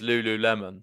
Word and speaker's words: lululemon: apparently you are right as well with the pronunciation garland confirming it is lululemon so brilliant stuff there you go no more